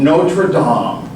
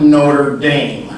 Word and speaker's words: Notre-Dame: lungs in France there is a Cathedral of Notre Dom which is probably people that's how it's pronounced I know we like to Americanize everything